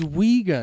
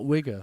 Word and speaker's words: Uyghur: It's Uyghur, not Wigger, though.